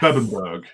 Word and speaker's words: Bebbanburg: And, in fact, in the castle of Bemborough, I'm pronouncing it right, yes. Bebbanburg in yes, Old English.